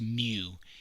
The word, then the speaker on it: mu: see that it looks like an m it's pronounced mu and there has a m sound in it